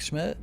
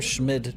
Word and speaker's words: Schmidt: So like the time right now is the Herr Schmidt time. Schmid. Why is there a D in Schmidt? You don't pronounce the D at all, did you?